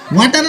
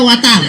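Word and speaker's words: water: ওয়াটার না, এটা ওয়াটার। ওয়াটার। জি স্যার। জিহ্বার আগে সামনে দুই দাঁতের সাথে লাগবে।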